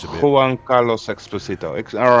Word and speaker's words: Exposito: Juan Carlos Exposito. All right, I will go into. I think it's more like Juan Carlos. Juan Carlos Exposito. Okay. That sounds perfect.